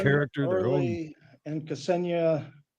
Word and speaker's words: Ksenia: It's Ksenia, like the country Kenya with an S, Ksenia.